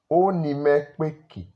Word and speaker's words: Oni mẹ kpo eki: Okay, that is the written Urhobo in this aspect of Oni mekpeki, but the spoken Urhobo pronounced like Oni mekpeki. Now, why is Oni mekpeki? Because when two vowels are close to each other in Urhobo sentence, you are likely to silent one and blend it with the other one.